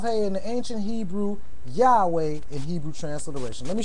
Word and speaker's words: Yahweh: Yud He Wav He in the ancient Hebrew, Yahweh in Hebrew transliteration.